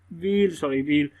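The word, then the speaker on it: wheel: उसके बाद ये आपके पास आ गया डब्ल्यू एच, व्हील। यहाँ पर एच जो है ना वो साइलेंट हो रहा है, ठीक है, वो साइलेंट वाला चक्कर मैंने आपको बता दिया, उसकी आवाज़ नहीं आ रही।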